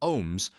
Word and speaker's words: ohm: Second, pronounced like home but starting with O is the SI unit of electrical resistance where SI means international system of units. 1 ohm represents the resistance when one volt produces 1 ampere of current.